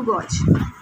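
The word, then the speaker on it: gauge: है हमारे पास, screw गॉज। Students ये कुछ पिक्चर है स्क्रू गॉज की, इसे कुछ लोग स्क्रू गेज भी कहते हैं। इट इज़ the difference of just a pronunciation, never mind if यू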